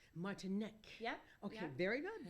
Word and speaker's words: Martinek: Or Martinek, or how do you pronounce it? It's Czechoslovakian, Okay. so it's Martinek. Martinek.